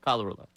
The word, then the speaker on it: Colarulo: Colarulo. But spell it. C-O. Right. That's not Cal. It's Cole.